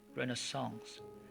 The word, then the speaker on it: renaissance: The word Renaissance in French means rebirth, pronounced Renaissance.